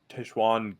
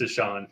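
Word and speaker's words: Tashaun: say his name oh is it Tashan Tashan yeah it's just Tashan yeah oh sorry tan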